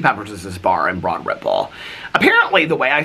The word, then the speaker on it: Broad Ripple: is this bar in Broad Ripple apparently the way I say Broad Ripple and people like if you live in Indianapolis everybody says Broad Ripple it sounds like it just all slurg together but people are like